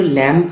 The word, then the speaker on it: Lamb: দেখো ল্যাম্প লেখা আছে কিন্তু এটার উচ্চারণ হচ্ছে ল্যাম।